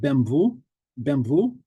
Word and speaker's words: BMW: it out and I realized that BMW is pronounced differently in uh in Polish bvu bvu he was asking um